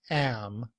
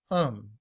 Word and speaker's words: am: am is spelled like this with the schwa and the letter m to sound like um not am but um and when that's combined